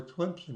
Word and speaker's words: Tlemcen: The Synagogue Durab you notice that I know how to pronounce it. Tlemcen.